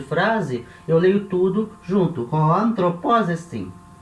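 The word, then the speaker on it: ὁ ἄνθρωπός ἐστιν: Hoanthropos estin. Dessa maneira correta, né, de ler.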